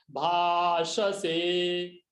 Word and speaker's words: भाषसे: भाषसे, श से दंत्य श, तालव्य श और स दंत्य स, भाषसे।